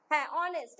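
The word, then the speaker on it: honest: এক্ষেত্রে দেখ এইটা সাইলেন্ট হয়ে যাচ্ছে ওটা থেকে উচ্চারণটা স্টার্ট হচ্ছে যেমন অন তাইতো অনেস্ট একদম একদম একদম কারেক্ট আসার যারা যারা আছো সঙ্গে লাইক করতে ভুলবে না।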